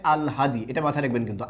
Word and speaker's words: আল হাদি: উচ্চারণটা হচ্ছে আল হাদি, এটা মাথায় রাখবেন কিন্তু, আল্লাদি না, উচ্চারণটা হচ্ছে আল হাদি।